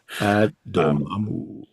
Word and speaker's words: Dormammu: I can only say it like Vic Reeves in Shooting Stars. That's how I hear it. It's beautiful. Dormammu.